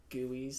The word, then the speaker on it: GUI: graphical user interface which I'll be calling guise the whole time because that's how they should be pronounced so I ended up